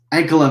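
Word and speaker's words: Ankalaev: Ankalev.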